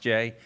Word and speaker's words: Gex: Everybody's seen that GEX, and you need to realize that's an old Kentucky name with a unique pronunciation of J.